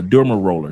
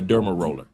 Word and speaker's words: derma roller: A think a derma roller. Thank you very much, brother. That's how you pronounce a derma roller.